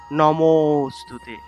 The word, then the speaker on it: নমোস্তুতে: অর্থাৎ এখানে এই লুপ্ত অ এর উচ্চারণটা, এখানে হালকা অ এর মতো উচ্চারণটা আসবে, তবে পূর্ণরূপে অ উচ্চারণ হবে না।